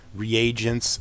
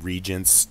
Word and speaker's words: reagents: Like reagents, sometimes I pronounce them regents just because I'm being lazy.